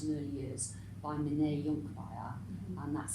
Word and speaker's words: Conkbayir: Years, or Neuroscience in Early Years, by Mene Jonkbayar, and that's spelled Conkbayir.